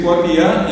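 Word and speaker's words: kuatia: mon coin y dice cuatiá y cuatá se escribe así mismo como se escucha, sin aceptos, sin usó, sin nasalidad.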